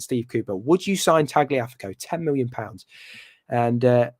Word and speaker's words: Tagliafico: would put in um tagliafico is his uh is his pronunciation thank you very much mr prattan yeah tagliafeco for future pronunciation and uh yeah so